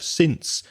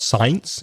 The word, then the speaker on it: since: since and for and the pronunciation of since which is not science it's since with a short vowel sound ear since since 2014